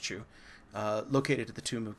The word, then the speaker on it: que: This is a Chu. I think that's pronounced Chu, located at the tomb of Gao.